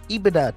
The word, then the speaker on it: EBITDA: The EBITDA. I don't know how to say this. Someone correct me if I'm wrong. It's EBITDA, Teddy.